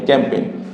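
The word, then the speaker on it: campaign: বলি ক্যামপেন এম ক্যাম পি আই এন পেন ক্যামপেন এই শেষে এন থাকার কারণে এখানে এই উচ্চারণ হয়নি থাকার কারণ এরপর আবার যদি দেখি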